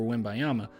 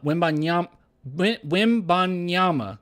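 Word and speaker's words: Wembanyama: get as much but the NBA is going crazy over win by Yama uh when byama geez everybody says pronounce the N I try Okay wimby um so this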